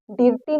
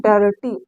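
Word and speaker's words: dirty: आ होगा देखिए कैसे डी आई आर टी यहां पर हम डिटी नहीं पढ़ेंगे इसको हम पढ़ेंगे डर्टी डर्टी डर्टी यहां पर आ का साउंड दे रहा है ना आगे देखिए डर्टी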